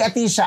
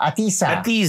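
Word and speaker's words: Ahtisa: Kasi si Atisha ay ah atisa. Atisa hindi walang H. Ang H niya after aisa. Atisa yan parang atisa.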